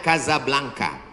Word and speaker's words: Casablanca: nama negaranya Maroko ibukotanya tulisannya Casablanca cara bacanya Kadzab langka Kaza artinya rumah Blanca